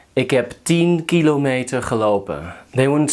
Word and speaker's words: kilometer: So put the emphasis on the first syllable. Don't say kilometer. That sounds weird. It's kilometer.